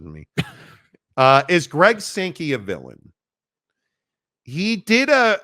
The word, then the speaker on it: Sankey: is SEC commissioner Greg skanky a villain or sanki sorry sometimes it just mispronounces me uh is Greg sanki a villain he did a a whole thing